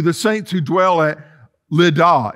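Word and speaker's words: Lydda: Saints who dwell at Lada it's how I pronounce it actually in Greek it's Ludo but I just look at it and say little can y'all say Amen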